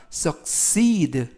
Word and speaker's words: succeed: 이번 단어도 약간 길어서 강세를 알려드리면 썩에 있는 게 아니라 succeed에 있습니다. 알파벳 E의 강세가 있어서 succeed라고 발음하시면 좋겠고요.